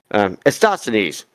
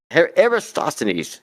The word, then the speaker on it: Eratosthenes: Eratosthenes. Eratosthenes, that guy, Eratosthenes.